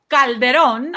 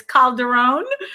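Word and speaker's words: Calderón: hello to geo uh well calderon i'm gonna say it the right way okay i'm sure the pronunciation for the american population is calderone um so he's saying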